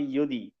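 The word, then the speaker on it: यदि: তাহলে যদি কি চাও, যদি জ্ঞান চাও মানে ইয়োদি, ইয়োদি এটা উচ্চারণ হবে ইয়োদি, ইয়োদি জ্ঞানম ইচ্ছতি।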